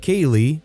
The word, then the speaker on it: Caeleigh: My wife suggested Caeleigh (pronounced Kailey, and yes she spelled it out).